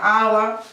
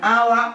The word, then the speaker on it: hour: H que la letra, la consonante es muda, como en español, que no se oye la H. Entonces, estas palabras, por ejemplo, hora sería hour y heredero, como exactamente la misma pronunciación que aire.